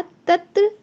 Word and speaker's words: तत्र: हाँ जी, ऋतंभरा तत्र प्रज्ञा। तत्र प्रज्ञा। ऋतंभरा तत्र प्रज्ञा। गुड। जैसे त्रिशूल होता है हमारा, तो इसको त्रि बोलते हैं ना हम, तो उसी प्रकार से इसका प्रोनाउंस होता है त्र।